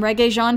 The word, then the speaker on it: Regé-Jean: and now everybody not only knows the name reggae jean page but can pronounce it properly too i suggest you do